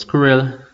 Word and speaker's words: SQRRL: Endgame, Extra App Network, we have SQRRL, pronounced Squirrel, now owned by Amazon, and also Victra.